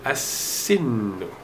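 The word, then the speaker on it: السن: Because sin is harufu shamsiyah, therefore you put a shadda here and you do not pronounce the lam. I'm sorry about that. So you say as-sinu.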